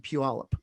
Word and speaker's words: Puyallup: i'd like to be proud of myself for pronouncing puyallup correctly thank you adam p in the zoo